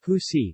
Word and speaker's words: usi: In the municipality of Tal, pineapple leaves are processed to form a kind of cloth known as usi, pronounced husi, from which the barong Tagalog, the national costume of the Philippines, is made.